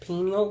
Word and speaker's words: pineal: it's called the the Pinal gland and I may be pronouncing that or all I think some people pronounce it pineal gland also known as